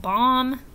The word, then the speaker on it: bomb: What letter is silent? Yeah, the B. We do not hear the B in words like lamb and thumb and dumb and bomb.